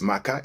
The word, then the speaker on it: Maca: Pronounced same way, but this Maca is without a K.